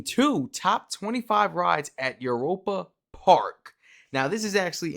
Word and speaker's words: Europa: Europa Park Europa. I wanted to make sure I was saying it right. You know, I was like, it sound like Europe. Europa.